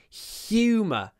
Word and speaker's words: humor: many words like this when the H sound is pronounced with our tongue usually H is in the throat but in this word humor we pronounce it with our tongue in our mouth humor humor he has a